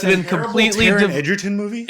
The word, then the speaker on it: Egerton: I thought it was Edgerton. It's Egerton. It's Eger, so it would be Egger, but I think he I pronounces think- it Edgerton. I don't know.